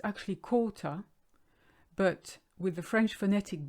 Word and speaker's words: quart: Now, if you look at the word quart, it's actually quarter, but with the French phonetic being the way it is, the QU is a K, quart, and you don't say the T, silent letter.